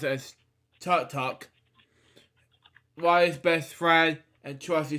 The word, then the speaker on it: Tudyk: Alan Tudyk, how to pronounce it, as Tut-Tuck.